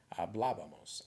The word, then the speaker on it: hablábamos: Hablábamos, accent on the A.